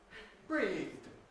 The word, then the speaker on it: breathed: Yesterday I breathed. Again, all one syllable.